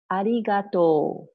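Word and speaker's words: ありがとう: Next, if I want to say thank you, I can say arigatou. Arigatou. Okay. Arigatou has actually five sounds. So it's, if we break it up, it's arigatou.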